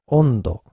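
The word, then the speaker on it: 温度: Ondo, this means temperature. So in these cases, these N are pronounced as N.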